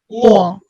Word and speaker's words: ঙ: এই বর্ণটা অনেকেই অনেকভাবে উচ্চারণ করেন, এটা শুদ্ধভাবে আপনাদেরকে উচ্চারণ করতে হবে, এটা হচ্ছে ঙ।